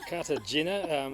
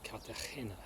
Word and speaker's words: Cartagena: Cartagena is the English pronunciation, but I believe it's supposed to be said Cartagena.